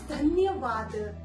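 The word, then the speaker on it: धन्यवाद: or with any items, then you must reply dhanyavaad. They will feel very kind that you are thanking them. So the Hindi pronunciation is dhanyavaad.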